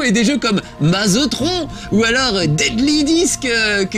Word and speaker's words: Tron: ça ne s'appelle patron comme le ministre georges tron mais tron évidemment comme ça que ça se prononce à c'est le premier film avec des